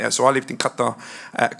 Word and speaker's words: Qatar: i'll talk about it so i lived in qatar at qatar sorry pronounced qatar for four years and there was something called